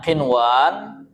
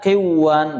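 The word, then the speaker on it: قنوان: Nah, contohnya qinwan ada sin ada bunyan, ada dunya bukan qiwan bacanya karena dilihat sekilas sama dengan idgham bighunah. Akhirnya dibaca qiwan siwan salah ya. dia dibaca izhar.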